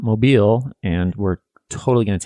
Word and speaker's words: Mobile: happy if anything but it is not mobile alabama it's mobile alabama i wish i could